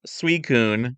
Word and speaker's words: Suicune: It's pronounced Suicune.